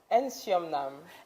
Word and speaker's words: NsoumNam: Please pronounce the name of your bar. NsoumNam.